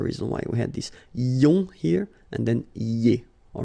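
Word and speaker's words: ions: So now let's see nous, and nous goes like I-O-N-S, okay? And it should be pronounced ion. Remember, final S is not pronounced.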